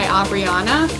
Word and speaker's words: Abrianna: It's at Rise by Abrianna. It's spelled RYZE by BY.